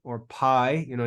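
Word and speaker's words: πι: the letter P or Pi you know in English it's it's commonly called Pi but it's really pronounced P so we have P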